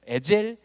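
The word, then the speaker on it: עזר: 창세기 2장 20절을 히브리어로 읽어보면 돕는 배필이라고 하는 말을 에제르 케네게딘이라고 말합니다. 케네게딘, 에제르 케네게딘. 이 에젤이라고도 하고 에제르라고도 하는데 끝에가 이제 엘 발음이 나니까 사실은 에젤이라고 해야 돼요. 에젤 케네게딘.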